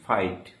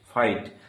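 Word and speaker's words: fight: জি H silent হিসেবে থাকে। যেমন একটি শব্দ এফ আই জি এইচটি ফাইট। ফাইট এখানে দেখো জি এইচ এর সামনে আই ভয়েল রয়েছে তাই জি এইচ এর উচ্চারণ হচ্ছে না।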